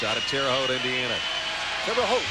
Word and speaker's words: Terre Haute: Terre Haute, that's how you say it, Terre Haute.